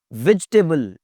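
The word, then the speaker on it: vegetable: वेजिटेबल, ई की आवाज नहीं आएगी जी। वेजिटेबल, वेजिटेबल, वेजिटेबल।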